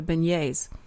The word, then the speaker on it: beignets: great and you know I'm so glad you pronounced it correctly the beignets because I went to New Orleans and I'd